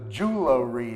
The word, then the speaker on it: jewelry: So jewelry is really strange, but you will hear it quite a bit.